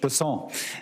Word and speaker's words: Bessent: Cassidy um Mr bassant I'm always going to pronounce your name as if it was in south Louisiana and I'm gonna pronounce it with a French basson as opposed to bessent that's what those folks in South Carolina do um I'll try let